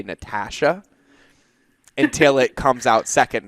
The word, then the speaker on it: Natasha: And then I'm going to figure out now whose name I'm going to mispronounce because my brain keeps saying Ash. Your brain keeps flipping the A.